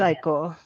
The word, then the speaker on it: iQor: Is it ICOR? I don't know how to pronounce that. IQOR. Yeah, Limited. it's ICOR.